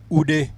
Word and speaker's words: Ude: Lilian Ude, I hope I've pronounced it just as the Nigerians would do. Ude, and that is how it is pronounced.